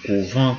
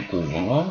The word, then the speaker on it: couvent: Le EN ne se prononce pas en, mais plutôt E, comme couve, à la troisième personne du singulier.